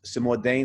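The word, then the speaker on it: Cimourdain: personally love you know the the the character simuldane is how you pronounce his name um yeah the ex-priest he's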